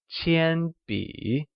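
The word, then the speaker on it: 铅笔: 铅笔 is pronounced with a high level tone on A and a falling rising tone on I, like 铅笔.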